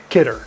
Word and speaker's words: Kidder: Is it Kidder or Kidder, how you pronounce it? Kidder.